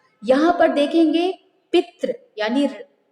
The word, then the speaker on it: पितृ: पितृ शब्द यानी यदि आप विदाउट माइक ऑन किए हुए यदि आप वहीं पर प्रोनाउंसिएशन करते हो इसका, तो आप बोलेंगे पितृ। जो री होता है, री, जो हमारे जो स्वर